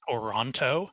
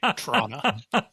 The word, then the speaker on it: Toronto: My one minor criticism, you can tell that none of the actors are locals because they all pronounce it Toronto and not the correct way, Toronto.